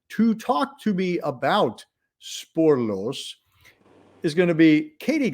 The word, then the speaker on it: Spoorloos: movies celebrating an anniversary Spore loose or I did that wrong sorry I had a Dutch person actually tell me how to say it sporlos sporlos uh but that is translated